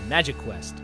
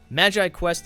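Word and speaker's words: MagiQuest: that brings us to Magi Quest which for years I was incorrectly pronouncing as magic Quest cuz doesn't that make more sense like magic anyway Magi Quest is a game that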